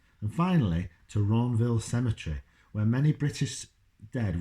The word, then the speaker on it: Ranville: And Ronville Cemetery is cemetery. Ronville is spelled Ranville.